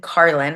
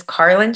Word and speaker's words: Carlyn: audience um yes absolutely well uh my name is spelled c a r l y n Carlin my name is Carlin so my Instagram handle is connect with